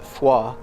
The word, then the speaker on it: Foy: Uh so we are in between Baston and the town of Foy. I think locally they pronounce it Fua.